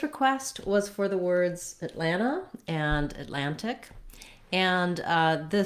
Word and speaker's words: Atlanta: saying at atlanta is how we handle the ts in this word so i would say for the most part most native speakers will use firstly a stopped t in the first syllable so uh rather than